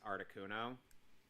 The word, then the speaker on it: Articuno: so arctic uno not articuno actually it is pronounced articuno what the shamudi shamudi the